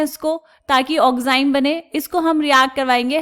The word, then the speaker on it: oxime: कुछ लोग इसको ऑक्सीम पढ़ते हैं, कुछ लोग इसको ऑक्साइम पढ़ते हैं. प्रोनाउंसिएशन का डिफरेंस है बेटा, बट ऑक्साइम पढ़ेंगे तो बेटर है, ऑक्सीम भी पढ़ेंगे तो चलेगा.